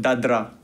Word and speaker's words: dadra: In tabla, we call it dadra.